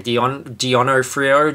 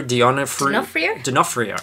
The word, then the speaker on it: D'Onofrio: D'Onofrio? D'Onofrio.